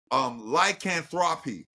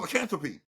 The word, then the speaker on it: lycanthropy: And they said lycanthropy. And I was like, ew, that's not how you pronounce the word. The word Yeah. is called lycanthropy.